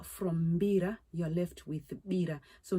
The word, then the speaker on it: mbira: invoked and come and give guidance, because the mbira is played in various settings, especially our sacred rituals, which we call bira. So if you take out the M from mbira, you're left with bira.